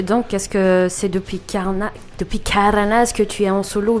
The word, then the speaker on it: Karnaz: Carnaz. Voilà, tu prononces à la malgache comme ça.